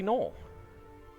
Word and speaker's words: gnoll: Why does no one pronounce the G's? Because they're not supposed to be pronounced. You know, it's a grassy knoll.